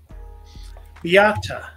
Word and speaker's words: Beata: Beata is how they're saying to pronounce it. Beata?